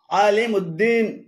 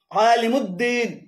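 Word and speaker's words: علیم الدین: শব্দ হিসেবে উদ্দিন লেখেন যেমন নুরুউদ্দিন, সিরাজউদ্দিন, শামসউদ্দিন, আলিমউদ্দিন এভাবে উদ্দিন বলে আরবিতে আলাদা কোন শব্দ নেই। এগুলো শুদ্ধ উচ্চারণ হল নুরুদ্দিন রুদ, নুরুদ্দিন সিরাজুদ্দিন, জিমদাল, সিরাজুদ্দিন, শামসুদ্দিন, আলিমুদ্দিন তবে দিয়াউদ্দিন উচ্চারণ সর।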